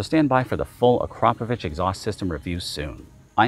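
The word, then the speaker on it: Akrapovič: And by the way, yes, that is actually pronounced Acropovich. If you want to get technical, it's Acropovich.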